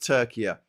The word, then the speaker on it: Türkiye: And I think it's pronounced Türkiye, which is like, this isn't Turkey enough.